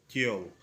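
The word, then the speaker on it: gaol: तो इसका प्रोनाउंसिएशन है, इसकी प्रोनाउंसिएशन है जेल, जेल जैसे उर्दू हम कहते हैं।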